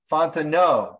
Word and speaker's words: Fontenot: Fontenot has a question. Okay. Fontenot. Now I got it. Yeah, I kept saying it wrong the other day.